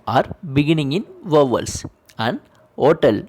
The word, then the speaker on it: hôtel: Where animal, l'ordinateur, and argent are beginning in vowels, and hotel where H is silent.